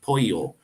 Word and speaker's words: pollo: it the L but when there's two L's it's it's a y sound Poyo so p-o-l-l-o is pollo